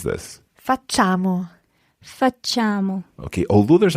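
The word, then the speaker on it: facciamo: carefully i'll add to how francesca says this fatchamo for chamo okay although there's an eye written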